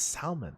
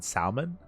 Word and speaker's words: salmon: Oh, it's salmon. Oh, okay. Nice. Looks good. I am celoso, which means I'm jealous. Your dinner always looks very appetizing. The L is silent in salmon?